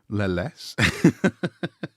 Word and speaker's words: Leles: The village of Leles is pronounced straightforwardly as Leles.